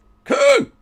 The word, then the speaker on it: Köln: Köln! Köln. That's how you say it. Köln.